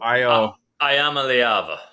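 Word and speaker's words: Iamaleava: How do you pronounce the last name, Froton? I'm afraid to say it. It's Nico Ayamaleava.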